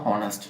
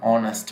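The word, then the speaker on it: honest: অনেস্ট এইচ ও এন এ এস টি, এটার উচ্চারণ কিন্তু হনেস্ট না, অনেস্ট ম্যান। তো এইচটা আমরা উচ্চারণ করছি না।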